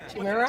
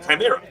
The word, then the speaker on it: chimera: Chimara. Chimara. Okay. Something like that. It's a chimera. Chimera. Oh, sorry, I'm just pronouncing it wrong.